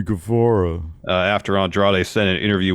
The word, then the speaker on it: Guevara: of beef after uh Sammy Guevara sorry Sammy gavora after Andrade sent an